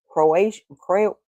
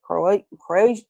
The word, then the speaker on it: Croatan: An entire colony, English colony vanishes, leaving the word Croatian, what is that? Croatan carved in a post.